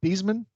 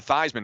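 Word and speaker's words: Theismann: never forget it yeah beasman beasman changed his own name to thyman to rhyme with Heisman isn't that a true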